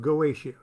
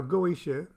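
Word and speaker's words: Goetia: some questions about galatia now goesha i pronounce it galatia i don't know i don't know why i just started calling it galatia and uh it's spelled goitia g-o-e-t-i-a so excuse me if i pronounce it galatia but you pronounce it any way you want i have questions about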